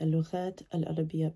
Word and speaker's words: اللغات العربية: You pronounce the T, اللغات العربية, because it's an إضافة.